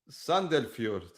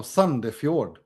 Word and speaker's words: Sandefjord: Isn't O pronounced U? No. Oh, okay. Brann, yeah. HamKam. Yeah, HamKam. Sandefjord. No, Sandefjord.